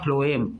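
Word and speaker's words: phloem: हां हां मिनरल और वाटर और इस बार इस बार भी थिन लाइक दूसरी स्ट्रक्चर है thin tube like structure called the फ्लोएम इसको बोलते हैं फ्लोएम पी एच एल ओ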